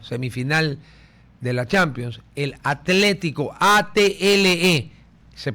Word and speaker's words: Atlético: El equipo de fútbol que está calificado para jugar la semifinal de la Champions, el Atlético, ATLE, se pronuncia Atlético, ¿no es cierto?